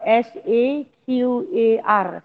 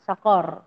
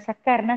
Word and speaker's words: Saqar: S-A-Q-A-R. Saqar. Bukan Sakar, Saqar. Q. Sebab dia ejaan Jawi dia sin qaf ra. Saqar.